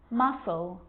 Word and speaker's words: muscle: few problems because it's often silent after the letter s like in these very common examples they're quite tricky muscle muscle scissors fascinate scene